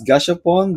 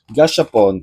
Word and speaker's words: gashapon: So, let me start with uh with this gaspon. They have like four gaspon. Am I right how I pronounce that one? Gashapon.